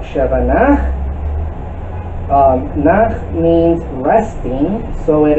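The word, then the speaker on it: שווא נע: The Sheva Na makes a very short sound like the E in the word petition. You notice that efficient. It should be pronounced as short as possible.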